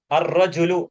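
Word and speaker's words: الرجل: रजुलू द मैन आदमी so here you can note the difference all वी are pronouncing वेयरवर we have अल हरूफ कमरिया बट इन अल हरूफ शमसिया वी आर not pronouncing अलफ लाम राव वी are connecting अलिफ with the first letter with A तजदीद।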